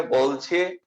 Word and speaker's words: বেলা: এটা শুদ্ধ উচ্চারণ কিন্তু হয় হচ্ছে বেলা।